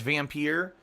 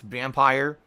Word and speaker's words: Vampyr: I think it sounds cooler as Vampyr, but apparently the game developers have been saying it's vampire, which makes no sense because Pyr is pronounced peer.